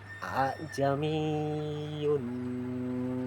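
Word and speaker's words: ءَاعْجَمِيٌّ: Ajamiun wa arabiyun. Nah, seperti itu cara membacanya. Hamzah kedua tidak dibaca jelas seperti hamzah penuh, tetapi diringankan seolah di antara di antara a dan hamzah.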